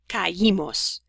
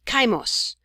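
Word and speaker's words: caímos: and the second syllables but for these we need this i with an accent mark caimos and again if we didn't have it it would be kaimos or this would be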